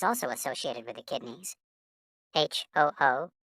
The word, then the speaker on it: Hu: HOO, pronounced like hu, which is associated with the spleen.